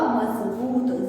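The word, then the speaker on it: मज़बूत: और इसका जो उच्चारण हो जाएगा वो होगा मजबूत, ज, जय नहीं ज।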